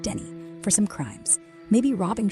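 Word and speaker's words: Denis: After that, you'll swing through St. Dennis, pronounced Denny, for some crimes.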